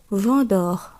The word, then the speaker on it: vendeur: আ এন, অ এন, অ এম থাকলে অ উচ্চারণ হয়। আ এন দিয়ে উদাহরণ আমরা দেখব chanteur, অর্থাৎ গায়ক, গায়ক। অ এন দিয়ে উদাহরণ আমরা দেখব vendeur, অর্থাৎ বিক্রেতা।